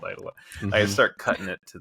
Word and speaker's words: Aidalon: It's Eidalon, and like in I think the US most people call it Eidalon, but some people say Eidolon, which I never had heard before. I was like shocked.